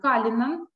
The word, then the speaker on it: Cullinan: Я представитель отеля Калинан Билек. Сегодня расскажу вам, как прошло наше открытие. Покажу какие-то фотографии, живые, свеженькие. Итак, название нашего отеля Калинан Билек, правильное произношение Калинан.